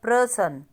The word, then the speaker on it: प्रसन: है परमात्मा उसके बाद प्रसन अब प्र परसन अब ये जो गलत वाला लिखा है आपका शुद्ध वाला उसमें लिखा है परसन परसन अब यहां पर हमारे साउंड क्या है प्रसन मतलब प जिसके